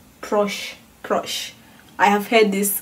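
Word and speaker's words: proszę: then how do you say please please is crush crush crush I have had this also a cup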